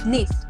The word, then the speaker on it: Nice: No, Nice. That's like Nice. Nice. Yeah, like it's spelled like nice. It's like NINE, basically, and it's like really great city and.